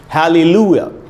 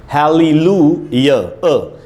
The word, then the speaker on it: hallelujah: इसका प्रोनाउंसिएशन क्या है, यहाँ लिखा है दोस्तों फोनेटिक ट्रांसक्रिप्शन में, इसका उच्चारण है हालेलुया, हालेलुया, हालेलुया।